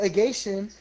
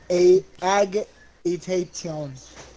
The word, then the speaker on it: agitation: Alright, so agation is a state of anxiety or nervous excitement.